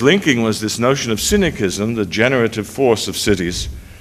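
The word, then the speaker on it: synoecism: It was originally spelled with S-Y-N-O-E-C-I-S-M, pronounced cynicism, and I decided to put the K back from the Greek to avoid the obvious mispronunciation and misunderstanding of the term.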